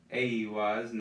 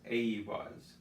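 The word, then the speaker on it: eihwaz: So Ehwas, Aiwas. Notice the emphasis is on the E and the emphasis on the H here. So Ehwas, while this is Aiwas.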